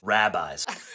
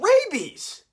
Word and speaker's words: rabies: Rabbis. Rabies? Diarrhea. Diarrhea! Give me that. You've been mispronouncing all of these. The way you say these differentiates on where you went to medical school. Rabies! Not rabbis!